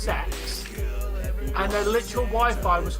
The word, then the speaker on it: CeX: Oh, Dave, I was out in town today, and we have a shop spelled CEX, pronounced sex, and their literal Wi-Fi was called unprotected sex.